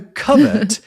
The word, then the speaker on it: covert: Well, I don't know, but in the 1960s, for whatever reason, an American pronunciation of covert appears, probably influenced by overt, right?